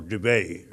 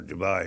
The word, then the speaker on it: Dubai: had let in or Dubay or Dubai if you want to pronounce it that way in the United Arab